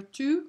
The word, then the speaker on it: tout: Alright, masculine singular tout. We do not pronounce the T.